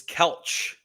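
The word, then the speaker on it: Kelce: It's not Kelsey. You're telling me? So yeah, the way he pronounces their last name is Kelch. Kelch.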